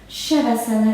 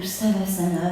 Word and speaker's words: Shavasana: Donc on est en Shavasana, la posture du gisant, ou Savasana, ça dépend si vous avez fait des cours de sanskrit ou pas.